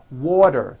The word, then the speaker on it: water: Water is pronounced as water. The t turns into a d and the whole word is voiced.